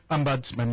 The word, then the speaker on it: ombudsman: Ombudsman is the word? Ombudsman? Is that how you pronounce it? Ombudsman, yes. Yes.